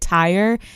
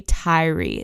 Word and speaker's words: Tyre: pronounce the name Tyree but I have been pronouncing it Tire all online people were saying Tire nickels so I assumed that was how to pronounce it but it's actually Tyree so I apologize for